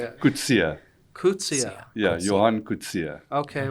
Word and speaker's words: Coetzee: I would say Coetzee? It's a common way of mispronunciation. Okay, how do you say it? Coetzee.